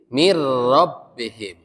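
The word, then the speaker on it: مِن رَّبِّهِمْ: Nah, kalau lam dan ro itu bila gunnah, jangan ditahan. Min rabbihim, misalkan min rabbihim. Jadi mir rabbihim. Jangan mir rabbihim. Jangan ditahan, tapi mir rabbihim.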